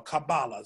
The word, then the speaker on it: Kabbalah: His other primary work, Talmud Esser Sheferot, is regarded as a central textbook for the students of Kabbalah, or Kabbalah, so you pronounce both ways, both ways.